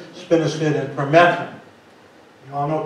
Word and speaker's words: spinosad: If you were going to spray, if you reach that point, most people use either spinosad, even though it says S-A-D, it's pronounced S-I-D for some reason, spinosad and permethrin.